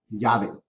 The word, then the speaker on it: llave: And one thing to remember is that double L in Spanish has the sound of a ya, like a yacht. Llave.